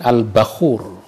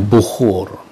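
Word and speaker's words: البخور: Wa minhu al-bakhuru, contoh yang lain al-bakhur. Mungkin bacanya yang pas itu al-bakhur. Kita sering menyebutnya bukhur.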